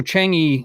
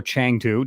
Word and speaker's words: Chang'e: There was the actual Chang'e or Chang'e, depending on how you want to pronounce it, was part of the first phase, which is basically the Chang-1.